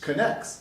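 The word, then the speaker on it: Knex: a soul anymore hey look it has a pronunciation right there connects connects wait so what is this so i actually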